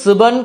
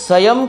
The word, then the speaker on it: স্বয়ং: হবে এবার সেটা বলবো প্রথম ভুল পাঁচ নম্বর পংক্তিতে রয়েছে শংকর সুবন কেশরী নন্দন এর জায়গায় হবে শংকর স্বয়ং কেশরী নন্দন হনুমানজি মহাদেব রুদ্রের এক